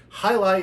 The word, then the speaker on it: Jai Alai: out of the way you're looking at this and going I don't know that that's how that's pronounced well the whole thing is highlight is a sport look